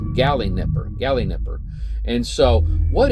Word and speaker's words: Galinipper: called the Gin Nipper the gal Nipper I hope I'm actually pronouncing that right it's g a l i n i p so I'm going to Pro I'm about confident it's G Nipper gy Nipper and so